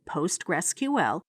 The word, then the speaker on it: PostgreSQL: this was soon renamed postgresql and is today generally pronounced as simply postgres you can use it